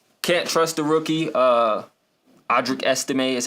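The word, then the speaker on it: Audric Estimé: I don't know can't trust the rookie uh audri ese is how you pronounce his name Javonte Williams had a big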